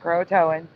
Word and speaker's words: Croatoan: Croatoan, pronounced Croatoan, is now the alternate spelling.